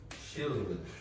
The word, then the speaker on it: she'll: She'll. Okay, so the pronunciation of this part sounds like this word, but said very quickly.